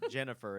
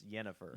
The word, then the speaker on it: Yennefer: Final Fantasy just like it's not Jennifer it's yennefer with those two movies you